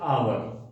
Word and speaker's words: hour: tasteful now see here H is silent though H is present the H sound is not you know emitted while speaking no one says however you say hour an hour later and